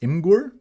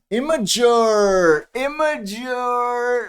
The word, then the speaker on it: Imgur: Just Imgur? No, there's Imgur pronunciation, yes.